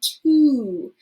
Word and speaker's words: to: You would probably expect that this is going to be pronounced like an ah sound, like an O typically would. However, it actually makes an oo sound to make that sound to. Say to.